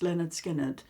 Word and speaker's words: Lynyrd Skynyrd: 50s and 60s um but when I heard pronounced Leonard skinnard the very first album in the very early